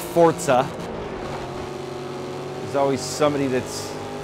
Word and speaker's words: Forza: Motorsport 5 and yes it's fortza by the way not Forza it's pronounced Forza there's always some somebody